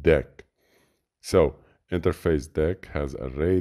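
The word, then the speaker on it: Deque: This is not the queue, it is pronounced deck.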